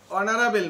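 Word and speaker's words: honourable: Mister Chowdhury is অ্যান অনারেবল ম্যান, হ্যাঁ, অনারেবল এইচ থাকলেও যা, না থাকলেও উচ্চারণ একই হইবে, অর্থাৎ এইচ উচ্চারণ হয় নাই।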